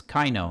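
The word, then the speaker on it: Kaveh: right so it doesn't really matter how you pronounce them most of the names are messed by localization team got it so it's kaino now I believed it would be wise to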